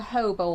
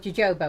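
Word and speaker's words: jojoba: softening we have got a hobo oil which for years I called Jobo oil cuz I didn't know how to pronounce it oops oh I also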